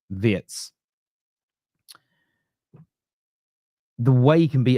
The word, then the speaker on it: Wirtz: That first half performance from Wirtz, or Wirtz, whichever way, I do think it's Wirtz. They were saying on the commentary that that's how they say it in Germany, Wirtz.